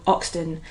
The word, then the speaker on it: Hoxton: poem by Tim Wells, or Oxton, as he would rather me pronounce it. Yeah, as he always says, he remembers Oxton before the H went back on it. Yeah, better without the H.